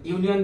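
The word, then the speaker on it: union: যদি বলি ইউনিয়ন, তাহলে ইউনিয়ন দিয়ে আমরা কি বোঝাবো? ইউনিয়ন, দেখো প্রথম অক্ষর ইউ, শব্দটা পুরো উচ্চারণ করো ইউনিয়ন, সেই ইউটা ইউ আসছে, ভাওয়েল থাকা সত্ত্বেও আমাকে এখানে এ বসাতে হবে, অ্যান বসাতে পারবো না, কারণ ভাওয়েলের উচ্চারণটা ভাওয়েলের মতোই, আলাদা না।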